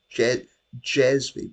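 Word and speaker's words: cezve: I think it's actually jezv because it's a Turkish word and C is pronounced like is like pronounced like an English J.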